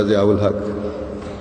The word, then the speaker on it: ضیاء الحق: میں ادا کیا، تو حضور نے فرمایا ضیاء الحق، قاف کے تلفظ کو چھوٹی قاف سے بیان فرمایا۔ تو کہتے ہیں